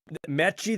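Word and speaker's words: Metchie: I'm not exactly sure when it changed, but I just remember him telling me, yeah, it's actually pronounced Mechie, and I was like, oh, I was kind of caught off guard too.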